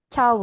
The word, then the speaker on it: ciao: Tapi untuk Aussprache-nya itu ciao gitu ya. Jadi i-nya tidak terlalu jelas. Langsung ciao gitu.